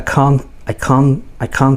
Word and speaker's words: can't: Anyway, the T is silent, so it's I can't see you, and then next, oh, lazy language.